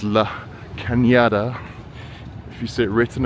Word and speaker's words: La Cañada: looks a bit like “Canada,” but it’s not Canada, it’s Cañada. The “n” has a squiggly thing (tilde) over the top, which means it’s pronounced like an “ny” sound, Cañada, not Canada.